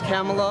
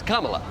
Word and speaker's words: Kamala: begins if they could only decide how to mispronounce that name I'm surprised Camala even has a chance no one likes camela they wanted carela in and that's what I